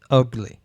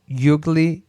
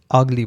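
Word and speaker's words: ugly: আগলি, তো এক্ষেত্রে ইউগলি তো বলা যাবে না, তো এক্ষেত্রে আগলি বলতে হবে এ।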